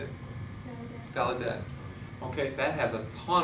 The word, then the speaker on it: Gallaudet: Gallaudet.